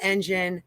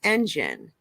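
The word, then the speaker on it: Enjin: the next Bull cycle an engine is spelled e-n-j-i-n just again because I know when I first started I kept on looking for that g in there but this is an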